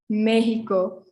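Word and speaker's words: México: might have heard um people who speak spanish might say mexico mexico so like the hit the sounding hit mego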